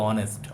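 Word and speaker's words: honest: আমরা এখানে এইচ হচ্ছে সাইলেন্ট এইচ বাদ দিয়ে অনেস্ট উচ্চারণ হচ্ছে ভালো করে বোঝ আর ওটা কি ওটা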